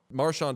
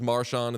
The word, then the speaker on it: Marchand: Marchand also fucked this whole thing up because initially he came into the league, he was Marchand, and then he said it was Marchand, and then he went back and forth, and there was like a real snip, snap thing.